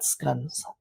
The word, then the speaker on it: scones: English scones and pastries although the English would have pronounced that scun that is tea time